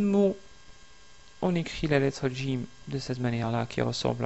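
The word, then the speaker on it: جيم: Il faut essayer de prononcer Jim au lieu de Jim. Donc c'est Jim, Jim. Vous attachez votre langue au palais.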